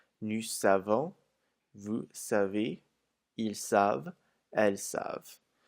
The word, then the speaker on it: savent: Also notice that the ENT isn't pronounced on either of the il with an S or the L with an S. Never ever in French is the ENT pronounced in a verb.